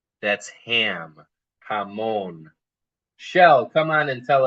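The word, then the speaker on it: jamón: And then the J we talked about is having an H sound. This first word is for ham. Everybody try it. Hamon. Hamon. That's ham. Hamon.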